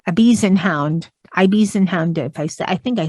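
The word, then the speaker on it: Ibizan Hound: It even has pronunciation on how to say some of these, like Ibisenhound.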